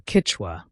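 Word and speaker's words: Kichwa: Ketwa, or Kitwa as it's pronounced locally, was once the language of the Inca Empire and remains in use today in the Andes.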